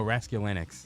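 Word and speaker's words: Raskulinecz: Oh, Rasculinix.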